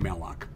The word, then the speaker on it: malloc: All right, that's how, literally how they're pronounced, are calloc and malloc.